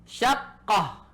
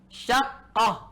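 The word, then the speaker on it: شقة: Syaqqah. Syaqqah. Ingat cara bacanya. Syaqqah ada tasydid ya. Jangan baca syaqqah. Syaqqah. Ini salah. Ikuti seperti adanya di kitab ini. Syaqqah. Tasydid pada qafnya. Syaqqah.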